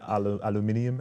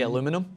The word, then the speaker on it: aluminium: Do you say aluminium? Aluminium? Like, what do you guys say? Aluminum?